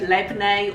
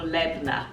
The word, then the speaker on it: Labneh: make some lemonade cheese i've heard it pronounced two ways lavenae or labna i think lampnae sounds